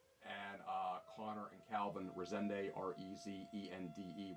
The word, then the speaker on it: Rezende: And Connor and Calvin Rezende, Rezende with a silent E.